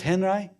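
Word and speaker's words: Henri: That looks like a French guy, doesn't it? He wasn't. Robert Henry, that was how he pronounced his name.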